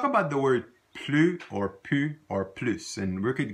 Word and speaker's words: plus: But when it's pronounced pu, when the L is silent and the S is silent, it means no more, okay?